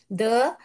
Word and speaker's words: the: हाँ, तो अभी इतना जान लीजिए कि द माने कॉन्सोनेंट साउंड आता है तो द बुक का उच्चारण करोगे पढ़ने के टाइम।